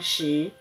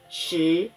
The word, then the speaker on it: 食: 是废寝忘食。废声调第四声，寝声调第三声，忘声调第四声，食声调第二声。